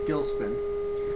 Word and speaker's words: Gilcspin: of all it's pronounced gilspin uh just so you know the c is silent and uh the reason